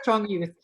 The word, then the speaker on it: Strong Youth: It's actually called Strong Youth, the project on Long Island. Because it had the period, so I thought you spell it out. That's how they spell it, but it's Strong Youth.